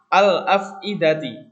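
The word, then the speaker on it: الأفئدة: Al-afidati. Di sini juga al-afidati. Jadi kata al di situ itu dibaca. Huruf lamnya itu dibaca. Ya, huruf lamnya itu dibaca kalau qamariyah. Nah, contohnya lain, al-masjidu.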